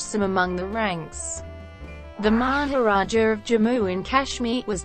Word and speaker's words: Maharaja: Although the fact that in Hindi the suffix A is silent makes the two titles near homophones. Etymology. The word Maharaja originates in Sanskrit and